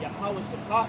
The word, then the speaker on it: Yahweh Shaphat: Alright, as the world knows it as the valley of Jehoshaphat, when you understand what Yahweh Shaphat means, which is how you say it properly, it means Yahweh being